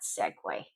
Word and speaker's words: segue: This word, it's not pronounced any other way but segue in English.